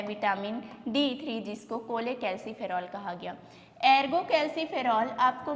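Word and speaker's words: cholecalciferol: और तीसरे नंबर पे जो विटामिन D3 है, D3 का नाम है, देखो छोले, स्पेलिंग जब लिखोगे तो आपको छोले जैसा लगता है, लेकिन ये छोले नहीं है, कोले कैल्सीफेरॉल कहा जाता है, कोले कैल्सीफेरॉल, कोले कैल्सीफेरॉल।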